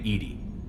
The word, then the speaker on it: EDI: jar why are you named Edy Edy is the fenetic pronunciation of e di that is an acronym